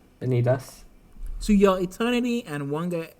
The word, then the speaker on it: Vanitas: Vanitas.